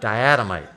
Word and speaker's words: diatomite: marine Plankton all right now diamite if you say it wrong sounds like dynamite but diamite right all right so here's